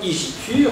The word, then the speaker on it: Igitur: Igitur d'ailleurs se prononçait à l'époque Igitur, hein, dans la prononciation du latin de l'époque, faisant entendre dans Igitur